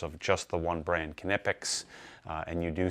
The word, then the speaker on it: Knipex: you do say it, you do pronounce the K from what I understand. You could say Knipex, you know, but Knipex is how they pronounce it here in the US.